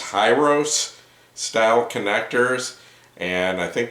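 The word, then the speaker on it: Hirose: it says these are i believe it's pronounced hi-ros style connectors and i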